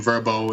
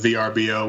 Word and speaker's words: Vrbo: home away and verbo which is new pronunciation verbo instead of VRBO which it was formerly known as and we're really excited